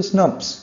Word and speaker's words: snRNPs: Nuclear proteins, SNRNPs, और अगर आप इसको प्रोनाउंस करोगे तो आप इसको बोलते हो स्नप्स, यानी SNRNPs को अगर आप एक साथ बोलोगे तो क्या प्रोनाउंसिएशन निकलता है, स्नप्स।